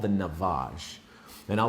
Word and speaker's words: Navage: pick up on Amazon, and it's called the Navage. And I'll spell it out for you right here.